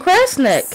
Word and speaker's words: Kresnik: Kresnik.